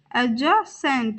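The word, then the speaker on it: adjacent: alternative बगल में एडजेसेंट एडज Saint यहां पर भी डी साइलेंट रहेगा और हम इसका प्रोनंसिएशन किस प्रकार करेंगे एडजेसेंट जीता वन वन पत्र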